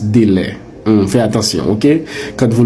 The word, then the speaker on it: délai: Le mot se prononce délai.